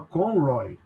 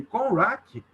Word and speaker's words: Conroy: Ele, Conrack? Ele, Conroy. Ele, Conrack. Ele, Conrack. né?